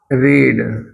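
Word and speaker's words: read: अंदर ठेवण्यासाठी उठ वाचण्यासाठी रीड याच रीडचा रेड उच्चार केला पास्ट टेन्स वाचल स्पेलिंग सेम आहे रेड नंतर जसं रिंग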